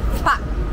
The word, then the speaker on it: pak: distinguished people are called pak. So that's P-A-K, but you kind of just pronounce it like P-A with a short stop.